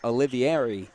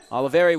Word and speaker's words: Oliveira: one was on oliveria my apologies i've been saying olivieri so my apologies on the pronunciation oliveira with his first fusco